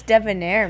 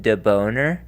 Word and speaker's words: debonair: What's debonair mean? Debonair? It's Debonair. Well, in the Americas, in Western culture, we might pronounce it deboner, but in Eastern culture, it is pronounced debonair.